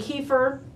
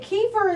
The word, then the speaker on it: kefir: And I've always called it kefir, and I'm always told I'm wrong. It's kefir. Kefir.